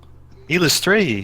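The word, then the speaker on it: Eilistraee: The Illustrate. Dark Maiden. Illustrate? Illustrate? Oh, thank you. She continues to stroke the lyre. She says, you were. Illustrate is how you pronounce the god's name.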